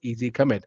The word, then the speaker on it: EZ commit: So our release management product comes out of the box with something called as EZ commit, or pronounced as easy commit.